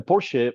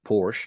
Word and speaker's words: Porsche: guys probably pronounce it Porsche but in German they Excel they call Porsche they pronounce the final e so I'm gonna pronounce